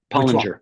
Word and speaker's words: Pollinger: Your last name is pronounced Pollinger or Pollinger? It is Pollinger.